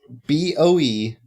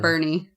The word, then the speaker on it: Boerne: But No, how's it it's spelled? not. How's it spelled, Luke? It's not Bernie. How's it spelled? Boerne. Wait, But say we say again. Bernie. Boerne.